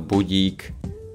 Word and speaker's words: budík: Ako každý deň, aj dnes si Anna nastavila budík na 8:00. we can see these two letters, the I, and we pronounce as budík.